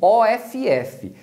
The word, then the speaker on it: off: quanto na pronúncia do OFF, que se pronuncia off. O off com dois Fs, você vai pronunciar com som de F mesmo, off.